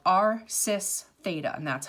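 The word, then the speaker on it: cis θ: you can write out this it's called our sis theta and that's how it's pronounced okay it means the same thing as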